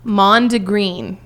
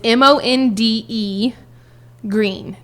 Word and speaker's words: mondegreen: Mondegreen. And it's M-O-N-D-E green. G-R-E-E-N. But it's one word. Mondegreen. Mondegreen. Wow. Mondegreen.